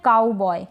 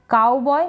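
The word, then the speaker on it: cowboy: में हम कहते हैं काउ बॉय तो सी का क बन गया सी का क बन गया ये जो ओ डब्लू है इसको आऊ पढ़ रहे हैं क्या पढ़ रहे हैं आऊ नेक्स्ट है एंजॉय क्या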